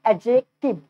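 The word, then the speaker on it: adjective: जो डी होता है डी म्यूट हो जाता है। म्यूट समझते हो ना, फोन यूज करते हो ना, वहाँ पे देखना एम यू टी लिखा था, म्यूट मतलब बंद, यानी कि साइलेंट हो जाता है, यानी कि डी को प्रोनाउंसिएशन नहीं करते हैं, फिर बोलते हैं एडजेक्टिव, एडजेक्टिव, ठीक है।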